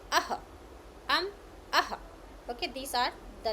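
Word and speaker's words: ः: We pronounce um, and this one we pronounce aha.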